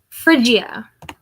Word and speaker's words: Phrygia: Phrygia. Marsyas from Phrygia. There we go. So, Marsyas from Phrygia.